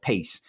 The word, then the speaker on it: PAYCE: But Ramco has launched what they call PACE, PACE, or PAYCE is how it's spelled, PACE.